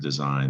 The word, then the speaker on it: design: not pronounced dizzine and in french that word design the g is also not pronounced design and that's where we get design in english the french